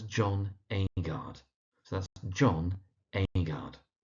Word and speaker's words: Agard: And there's John Agard, so that's John Agard.